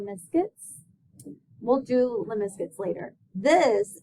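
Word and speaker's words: limaçon: 9.2 day three rows curves and that is pronounced liscus we'll do liscus later this is going to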